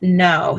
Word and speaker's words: Knowe: The Children of Green Know. So Know is spelled Knowe.